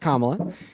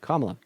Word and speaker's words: Kamala: four different ways no her name is pronounced one way which is I've heard her pronounce her name at least three different ways no in fact she released a YouTube video literally all about how to pronounce her name you have not heard her pronounce her name in any way but kamla okay so what is